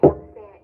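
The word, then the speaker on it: 学生: Again gakusei. Yeah, you don't put the stress on ku gakusei.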